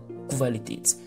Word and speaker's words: Qualität: Voilà, Qualität, lorsque le Q et le U se suivent, ça se prononce Kv. Ce n'est pas Q, mais c'est Kv. Qualität.